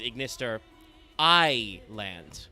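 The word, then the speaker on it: @Ignister: Uh because the original Japanese pun obviously is ignister I land Iando because you're saying I which is both the abbreviation for AI artificial intelligence but also is I which is uh love in Japanese. So you know almost all of them are are a double entandra. You pronounce it like I and it also makes a second one.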